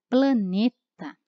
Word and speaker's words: planeta: preciso cuidar na escrita porque poeta é o é pronunciado né com uma vogal aberta por é tá planeta nós temos o e fechado mas ainda assim é